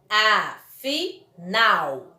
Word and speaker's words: afinal: Observe que nas duas palavras, a última sílaba foi pronunciada com mais intensidade. Portanto, elas são palavras oxítonas, pois a última sílaba é a tônica.